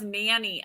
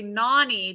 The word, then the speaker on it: Nani: So someone saying I thought it was nanny. I know it is spelled nanny, and everyone says nanny. But the reason I say Nani because it's my nickname.